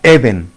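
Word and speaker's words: עדן: es la palabra Eden Acuérdese que El Edén del principio es Edén con acento en la segunda e Edén aquí usa la palabra Eden o sea con el acento en la primera e Eden pero que también lo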